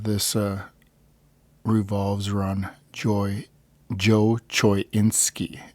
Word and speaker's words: Choynski: uh revolves around Joy Joe choinski is how you pronounce it Choy insi and uh his uh